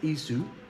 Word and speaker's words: Esau: yakub euu and yakub or Jacob and Esau pronounced ISU and yaku now Yak was 40